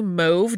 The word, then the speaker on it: mauve: chemist who stumbled onto move dye which you will sometimes hear pronounced mauve as well which is how I said it growing up and now I've transitioned to move but if I say